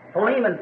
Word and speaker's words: Philemon: So, Philemon, someone said back there, which I think is really the correct pronunciation of it.